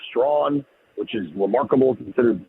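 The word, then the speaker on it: Strachan: Straen, who I I've been told is actually pronounced Strawn, which is remarkable considered spelling.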